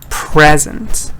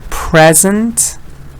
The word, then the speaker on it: present: Here the vowel is changing. So I'll read it again. Present, present, present, present. This vowel change is important.